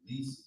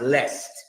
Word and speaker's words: lest: Least they trample. That word least is more accurately pronounced lest. It's like unless today.